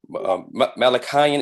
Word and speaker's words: Malachian: Is it Malachian Empire? Because I think I said Malaysia last time.